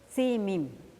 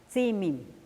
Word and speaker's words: Tzimim: representado por el caballo, que en lengua maya se pronuncia y se escribe Tzimim. Tizimín del caballo, Tzimim.